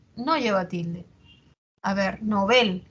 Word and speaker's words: Nobel: lleva tilde A ver novel es aguda Aunque yo la pronuncie grave pero debo atender a lo que dice el dpd el dpd me dice que se recomienda su uso agudo porque proviene del francés que es novel eh No no era